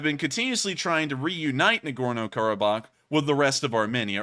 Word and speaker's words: Nagorno-Karabakh: incredibly odd it's called nagorno Baro um let me make sure I actually get that pronunciation correct nagorno karabakh and nagorno-karabakh is entirely within